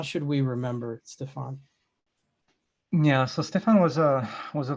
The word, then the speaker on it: Stéphane: Just Stéphane, even though the E on the end, it's still pronounced Stéphane.